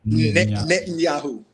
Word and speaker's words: Netanyahu: Netanyahu.